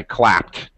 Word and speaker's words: clapped: like clap your hands I clapped all right so it always has a t sound What's um yeah like